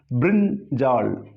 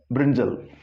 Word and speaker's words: brinjal: Here, because of this A, tendency is to pronounce this as brinjal. But in the phonetic transcription, you can see there is no A. The A R sound. So it is brinjal.